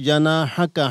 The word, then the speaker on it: جناحك: তো মাহমুদুল হাসানকে বলবো ওয়াদমুম ইলাইকা জানাহাকা, হাকা শুনে গেছে, হাটা স্পষ্টভাবে উচ্চারণ করতে হবে, জানাহাকা, হাকা হাকা শুনে গেছে।